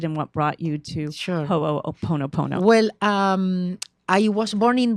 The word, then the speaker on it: Ho'oponopono: Because Ho'oponopono is what I call the easiest way.